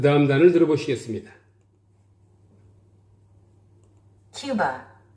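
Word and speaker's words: Cuba: 큐바, 큐바, 큐바. 우리는 쿠바라고 하죠. 큐바, 큐바, 원어민들은 큐바라고 합니다. 원래 발음교를 보면요. 쿠버로 돼 있어요, 여러분들. 근데 원어민들은 큐바. 큐바, 큐바, 큐바, 큐바.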